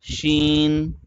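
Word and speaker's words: شين: Sheen.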